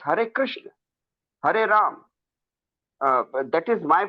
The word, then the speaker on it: Krishna: It's Krishna. Yes, That is my definitely. submission, sir. Definitely, pronunciation do matter.